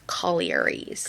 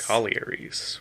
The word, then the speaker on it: collieries: Collaries. Collieries.